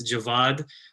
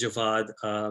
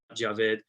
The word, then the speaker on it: Javad: Already need to make a correction, so it's Javad. I know I spell it funny, but it is Javad with a V and an A, not Javed.